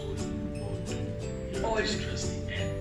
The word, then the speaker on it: Olubudon: It's pronounced Olubudon. Olubudon? Yes. It is absolutely no relation to French? No, not at all. It's a Yoruba name.